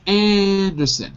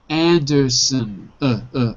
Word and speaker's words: Anderson: Anderson. Son. If you say it fast, it sounds like sin. But that's okay.